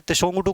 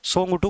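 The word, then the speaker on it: Tshogdu: भूटान की संसद को सोंगटू कहा जाता है, तेसोंगटू कहा जाता है हालांकि, लेकिन टी इसमें साइलेंट होता है, सोंगटू कहा जाता है।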